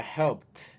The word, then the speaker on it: helped: Allí la ed se va a pronunciar como T, entonces ya helped, helped, ¿ok?